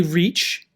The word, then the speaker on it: reach: So for example, the EA in reach, now we say reach and then we say react. Look at the EA in both. Why do we pronounce these differently?